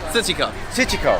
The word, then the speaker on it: 磁器口: Wrapping up at Ciqikou. Ciqikou. Yeah, you gotta say it. Ciqikou. Ciqikou.